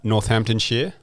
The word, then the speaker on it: Northamptonshire: a good giraffe okay uh northamptonshire not Shire perfect don't get any